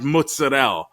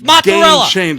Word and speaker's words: mozzarella: giant block of fried mozzarella complete it's mozzarella it's mozzarella that's what we say it's mozzarella no that's that's how it's said it's mozzarel no no you're leaving out letters